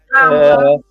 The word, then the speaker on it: Kamala: Say her name right, Kama, with the lie. Kamala is running for president, okay?